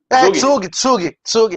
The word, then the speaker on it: Zug: Como é que se pronuncia em alemão? Que tem o Crypto Valley. Lá você chega lá no canto. Tsug.